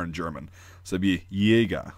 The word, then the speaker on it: Jäger: same sound in English, a J is a Y sound, like ya. And then the A with the two dots, called an umlaut, just makes it a long A sound. So, Jaeger, Jäger, right?